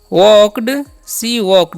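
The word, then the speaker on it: walked: Next बढ़ते हैं, लिखा हुआ है सी वॉकड, यहाँ पर एल साइलेंट होता है, याद रखना है, ठीक है।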